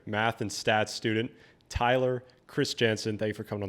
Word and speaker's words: Kristjansen: But do you have the Norwegian pronunciation? You told me to say Kristjansen.